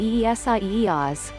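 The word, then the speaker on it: Isaías: the center of isaiah's which is written as isaiah's in spanish and pronounced e-s-i-e-oz was about 5 miles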